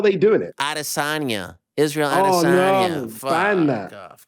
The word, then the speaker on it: Adesanya: Can you tell the world how to pronounce Israel's last name? Adesanya. Adesanya, thank you. Yeah. So what is this? How are they doing it? Adesanya. Israel Adesanya.